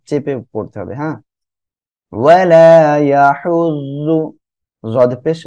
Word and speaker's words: يحض: অনেকে বলতে পারেন ওয়ালা ইয়াহুদ্দু, একটু খেয়াল রাখবেন, এটা কিন্তু দদ না ডাইরেক্ট, মানে আপনি ওই যে দাল পেশ দু এমন উচ্চারণ করবেন, এটা কিন্তু তা না, হ্যাঁ, এটা হলো জদ। ওয়ালা ইয়াহুজ্জু।